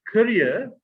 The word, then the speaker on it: career: One is pronounced career, and the other is pronounced carrier.